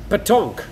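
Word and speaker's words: pétanque: saying it right botche hope I am patonk so that's how it's pronounced uh then re read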